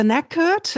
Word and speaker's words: knackered: And the knackered, again, one reference to an earlier episode. It's a silent letter here.